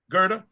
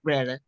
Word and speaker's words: Gerda: me okay I I'm you said them calling me Greta oh I was reading this I'm reading your your name okay you said it right you said it right the second time okay well thank you